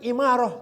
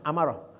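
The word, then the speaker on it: أمارة: Dzan yang imarah, dhaifah. Jadi kalau ilmu apa? Amarah. Iya. Bukan imarah bacanya, amarah ya, tanda.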